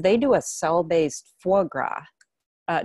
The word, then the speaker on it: foie gras: do a cell based foie gras uh did i pronounce that right sounds right to me grass down here where i'm from it's foy grass yeah so that's an